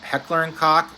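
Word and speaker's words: Heckler & Koch: so the h k heckler and is and that's how you say it not a bad word that's how it's pronounced fantastic fantastic firearms the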